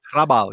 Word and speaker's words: Hrabal: Czech writer whose name you will help me pronounce, Bohumil Hrabal. Hrabal, yes. Hrabal?